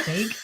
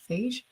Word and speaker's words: Feige: has it is it fake how do you pronounce it is it kevin fake phage i'm pronouncing it like beige pronounce it like i'm gonna pronounce it like beige kevin feige is what happens when